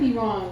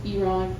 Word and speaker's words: Iran: No, we almost went to war with Iran, right?